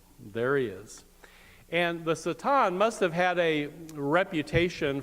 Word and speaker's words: Satan: The real way to pronounce that is Satan.